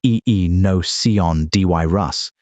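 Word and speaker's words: Aenocyon dirus: Dire wolves, Enocyon dirus, pronounced e e no c on d y rus, went extinct, and gray wolves expanded into the space they left behind.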